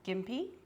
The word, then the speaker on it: Gympie: There's a place in Australia called Gimpy. It's spelled Gimpai.